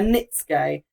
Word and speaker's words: netsuke: Yeah, and it's apparently a netsuke. Yes. Or what they also pronounce as a nitsuke, but one of those.